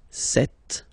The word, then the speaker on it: cette: So you can notice that phonetically these two are pronounced the same way. Okay, set here and then set here.